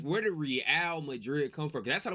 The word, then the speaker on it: Real Madrid: Oh, it's Oh, it's Real Madrid.